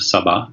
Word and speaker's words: Saba: It goes into the visit of the Queen of Sheba, the Queen of Saba is how they would pronounce it.